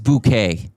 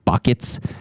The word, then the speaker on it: Bucket: She her last name like would be Mrs. Buckets, but she'd always get people to try to pronounce it Mrs. Bouquet.